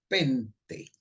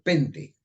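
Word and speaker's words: πέντε: nombre viene del griego pente no penta pero pente un acento en la e que significa cinco y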